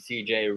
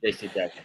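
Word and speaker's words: J.C. Jackson: And I think CJ really, really helps that secondary out for the Chargers. So the baby is upset you keep getting his name wrong, man. JC Jackson, sorry.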